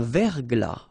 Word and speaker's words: verglas: Un verglas, final S not pronounced.